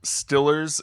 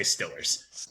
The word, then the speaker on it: Steelers: i read today that to pronounce stillers correctly you've got to keep your tongue on the bottom at the back of your mouth that's how to properly say stillers too many steps to